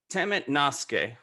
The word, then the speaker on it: temet nosce: temet nosce, which interestingly is pronounced the same in Latin as it is Greek, but it means know thyself.